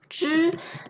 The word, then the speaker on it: 汁: related to liquid, water, and this whole character pronounced as 汁.